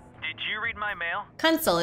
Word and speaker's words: Kunsel: Kunsel is how pronounces it.